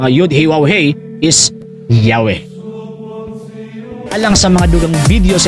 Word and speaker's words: Yahweh: Several early Greek writers of the Christian church testified that the name YHWH was pronounced Yahweh.